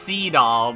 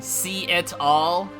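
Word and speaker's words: Seadall: I know it's pronounced SE doll but come on see it all it's it sounds like you're saying see it all really quick see it all cuz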